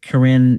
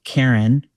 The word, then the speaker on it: Karen: Karen is spelled Karen for those of us, for Americans. We tend to say Karen, it's Karen.